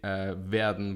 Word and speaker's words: Waerden: And I will say Waerden, which would be the German pronunciation.